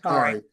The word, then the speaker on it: Sha'Carri: I mean, um, and Sha'Carri, I say in Sha'Carri, I believe the pronunciation is Sha'Carri. Sha'Carri.